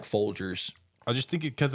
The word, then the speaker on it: Folgers: It's Jers. Jers. I always DG. said Gers. Is it DG or? It's G. Yeah. Well, like, yeah, It's- no, it's it's regular G, but LG. it's spelled or it's pronounced Folgers.